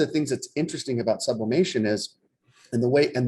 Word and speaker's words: sublimation: or five years uh people actually know how to say the word sublimation because how many times have we heard sublimination and uh a thousand variations